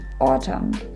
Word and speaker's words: autumn: to the silent n the n sound is not pronounced when it follows an m as in mary for example the words column and autumn moving on to silent